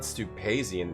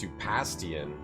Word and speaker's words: Stupastian: Like, it's not Stupazian, it's Stupastian. I was pronouncing Stupastian's name wrong for a long time.